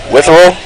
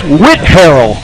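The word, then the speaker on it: Whitharral: Witherell? Say again? Witherell? That's what I said, and it was wrong. It's Whitharrell. What?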